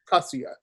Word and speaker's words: Kasuya: In Japanese, the emphasis is on the first syllable if it's 3 syllables or more. So Kasuya. Mm-hmm. Kasuya.